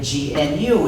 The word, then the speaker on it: gnu: in countless wordplays because according to the dictionary the g is silent and it's pronounced new so every time you